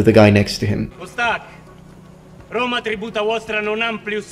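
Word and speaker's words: posthac: He chooses not to pronounce the H. Usually in classical Latin, the H is pronounced, particularly if it's at the beginning of words, but in this case, it's absolutely fine not to pronounce it. Postac, I think it's easier to say.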